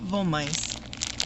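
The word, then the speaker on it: Wollmeise: Now, I'm pronouncing it Volamice because this is a German name.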